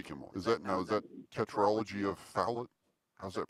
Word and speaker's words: Fallot: Is that tetralogy of Fallot? How's that pronounced? Fallot. Fallot? It's French.